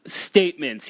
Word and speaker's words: STMNTS: Statements, yeah. It's spelled all caps STMNTS.